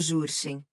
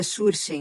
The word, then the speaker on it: Jurchen: A coisa interessante sobre isso é que os manchos são descendentes do povo Jurchen, que eu acredito que se pronúncia Shurchen, mas é grafado com J, o que é interessante se conectarmos isso ao Shur M.